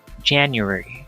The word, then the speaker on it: January: this one the stress the stress is on the first syllable it should be jen january january and then he will